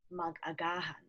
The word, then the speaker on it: magagahan: Okay, so if you see here, you're going to place the stress on the second to the last syllable. Okay, Mhm, mhm. that's where the stress is, like gumising.